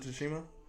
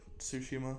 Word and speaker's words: Tsushima: was on ghost uh ghost of tashima okay or tsushima sorry I know you're not supposed to pronounce the T why is it there anyways um why is